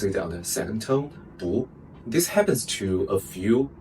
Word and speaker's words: 不: Sometimes we pronounce it on the fourth tone, Bu. Sometimes we pronounce it on the second tone, Bu.